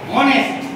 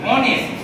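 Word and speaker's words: honest: এইটা বলো, অনেস্ট। স্পেলিংটা কি দিয়ে আছে? এইচ দিয়ে, এইচ ও এন ই এস টি, অনেস্ট। উচ্চারণটা কি করছি? অনেস্ট।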